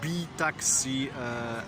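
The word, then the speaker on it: BiTaksi: to take a taxi do it from the B Taxi application it is spelled b-i-t-a-k-s-i and there are two versions in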